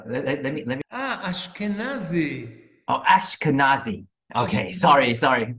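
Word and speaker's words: Ashkenazi: between what are askanazi Jews what are what Eskenazi Jews es uh let me let me ah ashkanazi oh ashkanazi okay sorry sorry my pronunciation what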